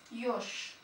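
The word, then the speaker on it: ёж: Bu Yo oluyor. Yo. Yo. Örnek Yoş. Yoş. Yoş Türkçesi kirpi demek. Yoş. Okunuşu şu şekilde. Yoş. Yoş. Ya da yoğurt kelimesi mesela. Bunun ikisi yo, bu harfi veriyor.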